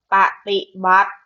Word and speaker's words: ปฏิบัติ: ไหม อ่ะ เพราะ ฉะนั้น ปฏิบัติ นะ คะ สระ อิ ตัว นี้ ไม่ ต้อง ออก เสียง นะ คะ อ่าน ว่า ป้า ปฏิบัติ นั่น อีก นะ คะ